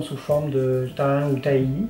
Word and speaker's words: tahini: forme de thym ou tahini, on le prononce à la française, H-I-N-I, pour ceux qui ne connaissent pas ce plat d'origine libanaise.